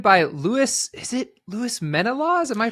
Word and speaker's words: Menelaws: Lewis is it Lewis Mena laws am I pronouncing that right that's right that's right yep many laws there's many laws in this country that's why I like